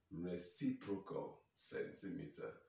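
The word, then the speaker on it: cm⁻¹: in cm minus 1, we pronounce that as reciprocal centimeter.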